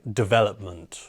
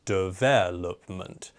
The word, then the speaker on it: development: a random word like development or something like that. In this case, the stress needs to go on the second syllable, right? Development.